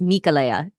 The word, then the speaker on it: Michaela: It's spelled Michaela, but it's Michaela. That's how she said it.